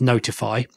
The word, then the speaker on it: ntfy: then I looked into a project called ntfy which I'm going to pronounce as notify which is something that